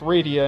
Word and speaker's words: Rydia: World of Final Fantasy, and her name is pronounced Rydia in both of those games, making it clear how to actually say her name.